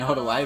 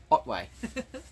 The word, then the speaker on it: Otway: I'm an idiot embarrassing I've been saying all the way but it's Otway uh the Otway light